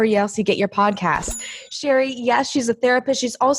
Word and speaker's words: Cherie: And just real quick, it's actually pronounced Cherie.